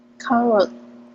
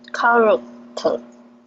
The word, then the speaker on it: character: character, character, Okay, one more time. Character. character, you will give emphasis to k sound.